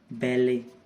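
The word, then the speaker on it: ballet: बैले जो dance होता है, इसमें भी टी का कोई साउंड नहीं है।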